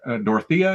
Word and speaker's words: Dorothea: Jenkins and Dorothea.